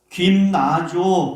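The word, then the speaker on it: γυμνάζω: 연습을 육체의 연속과 대조하면서 설명을 해요 육체의 연습은요 김나조 그렇게 발음이에요 그런데 무슨 뜻이냐 벌거벗고 운동하다라는 뜻을 가지고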